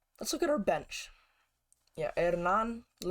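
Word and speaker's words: Hernán: look at our bench hernan it's from argentina so i'm assuming that the h is silent hernan losora losada hopefully i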